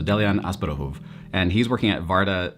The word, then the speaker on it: Delian Asparouhov: I've been working on his Bulgarian pronunciation, so Delian Asparouhov, and he's working at Varda Space Technologies.